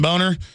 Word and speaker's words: Boehner: The Speaker of the House, John Boner. I mean, John, well, it is pronounced Boner. He tells us to say Boehner.